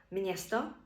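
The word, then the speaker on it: město: для нас для українців якщо є гачкова не стоїть після м відбувається нотація читається це як мн приклади мнесіц місяць мсто місто мнякі м'який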